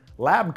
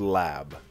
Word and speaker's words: Lab: The first thing to discuss is it's not actually called lab. Most people, when they see the color mode, they pronounce it that way because it's got a capital L and a lowercase a and a b. It's actually pronounced L.A.B, and the reason that